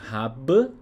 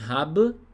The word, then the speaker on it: habe: Se você falar tudo bonitinho, você vai falar ich habe, né? Ou seja, o verbo haben com a letra E no final. Ich habe Zeit. Eu tenho tempo. Porém, no dia a dia, os alemães eles vão eliminar essa letra E do final do verbo.